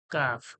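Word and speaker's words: كاف: আছে ছোট্ট এরকম এস কাফ নাম কি কাফ কাফ কাফ কাফ কোথা থেকে জিহ্বার যে গড়া ওর একটু আগে বেড়ে উপরের তালুর সমান জিহ্বার গড়ার একটু আগে ওর সজাসজি তালু থেকে কাফ কাফ কাফ কাফ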